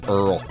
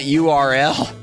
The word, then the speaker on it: URL: It's pronounced Earl. Ah. I always pronounced it URL.